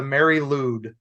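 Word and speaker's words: Mari Lwyd: just just a tradition and that is the Mary ludd which is not ludd L ew it's l y a wd thank you Welsh pronunciations and this what is the Mary Lube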